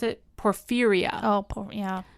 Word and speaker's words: porphyria: Scientists thought they knew the cause of these ravings, a genetic defect called, how did I pronounce it? Porphyria. Oh, yeah. Porphyria.